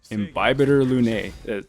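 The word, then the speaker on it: Imbibitor Lunae: DPS Natasha's next, but first, I need to focus on Dan Hung, Imbibitor Lune. That's how they pronounce him in the trailer.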